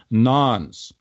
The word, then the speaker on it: nonce: of a per message nons again spelt non-0 pronounced nonce use of a pure per message nons in